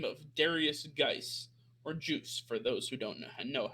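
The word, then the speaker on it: Guice: He goes by the name of Darius Geis, or Juice for those who don't know how to pronounce it properly.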